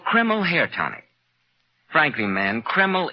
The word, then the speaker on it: Kreml: It's spelled K-R-E-M-L.